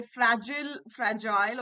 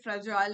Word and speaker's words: fragile: Okay, fragile. Okay, fragile is the UK pronunciation, fragile is the American pronunciation.